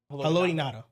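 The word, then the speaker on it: Haloti Ngata: Haloti Nada.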